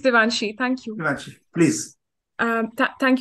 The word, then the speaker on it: Devanshi: And Devanishi, did I pronounce correct? It's Devanshi.